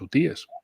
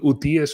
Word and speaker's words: hutíes: cámara, Fernando y yo, de si son hutíes o ucíes. Bueno, a mí lo que me dijeron árabes, sí. es decir, que se pronunciaba como Z. Pero bueno, es que la gente suele decir utíes. Bueno, pues dejémoslo en utíes o ucíes.